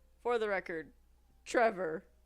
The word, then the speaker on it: Trefor: no this probably means I've been pronouncing everyone's name wrong for the record Trevor t r e f o r Trevor